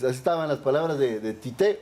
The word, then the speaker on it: Tite: Así es, así estaban las palabras de Tite, o Titi como le dicen en Brasil, la pronunciación ahí del técnico del equipo pentacampeón del mundo.